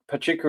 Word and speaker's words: Pachuca: Is it Pachuka? Is that how you pronounce it? Yeah. Yeah. So Pachuka in Mexico and that is um just to the northeast of Mexico City.